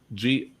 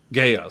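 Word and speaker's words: GAEA: Number 2 is New Japan, All Japan Pro Wrestling, Extreme Championship Wrestling, Gia, is that it? Am I pronouncing that right? Gaia, sorry. World Championship Wrestling, Battle Arts, EMWL, Dream Stage Entertainment.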